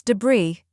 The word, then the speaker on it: debris: scattered after a storm it comes from the French language which is why the silence remains in English there you have it now you know how to pronounce debris and what it means